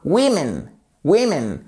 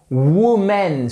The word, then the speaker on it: women: là ça change tout on passe d'un son qui est assez large woman woman à women women et ce n'est pas womanen surtout pas et c'est à ce